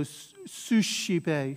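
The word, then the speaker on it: suscipe: to that zere monobase the sc when it's followed once again by an e or an i makes a sha sound so sushi bay sushi pay right sushi sound sha again all this is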